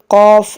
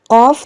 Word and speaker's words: qaf: Qaf, the first qaf which has two dots, they are called haruf lahwiya. If you see to the pronunciation, the blue box, it is written pronounced from the root of the tongue and the soft part of the palate.